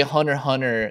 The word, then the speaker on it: Hunter x Hunter: is there an x you're actually supposed to say hunter hunter the x is there to denote how it's spelled in japanese goes and takes weekly